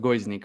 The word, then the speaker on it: Gojznik: talking today with guznick guznick yeah it's hard it's hard to pronounce it it's like it's pronounced goes Nick but yeah go is